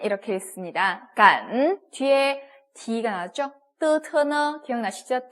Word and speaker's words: 感: G 할 때 이렇게 읽기 때문에 그 발음이 나와야 돼요. GAN 어떻게 읽습니까? 삼성이 들어갔어요. 간 이렇게 읽습니다. 간 뒤에 D가 나왔죠?